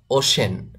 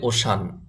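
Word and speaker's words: ocean: occupation পেশা পেশা অকুফেশন ওশান ওশান মহাসাগর মহাসাগর ওশান আমরা অনেকে বলি ওশান ওশান বলা যাবে না এটার সঠিক উচ্চারণ হবে ওশেন ওশান মহাসাগর মহাসাগর ওশান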